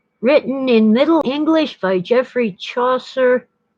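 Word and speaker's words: Geoffrey: in middle english by jeffrey chaucer i suppose the british would call him joffrey like the joffrey ballet between 1387 and 1400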